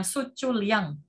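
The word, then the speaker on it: 수출량: Prediksinya adalah Sucul Riang. Bacanya Sucul Liang.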